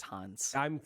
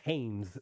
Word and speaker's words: Hannes: It's Hans. I'm calling it Hannes because that's how they say it in Japan, and I can't well, I mean, because we looked up a pronunciation. Apparently, it's called Hans. It's called Hanes. Hanes, like the underwear, but I'm not calling it Hanes.